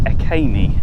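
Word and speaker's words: Iceni: the romans invaded and i say i see because i've always said i see but according to the information board it's akane and that's how it's pronounced so the story goes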